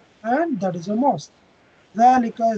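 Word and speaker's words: ذَٰلِكَ: Dhalika is pronounced as dhalika, but it is written without the alif.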